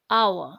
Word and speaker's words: hour: it h we are calling it we are pronouncing it as hour so an hour so what you got you